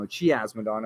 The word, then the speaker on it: Chiasmodon: six cheese summons um i can never pronounce this one chia chiasmodon i think yeah no chiasmadon i think is how lionel told me it was pronounced remember the show we